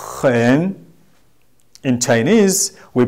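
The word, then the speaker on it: 很: In Chinese, we pronounce this word hen, hen, hen.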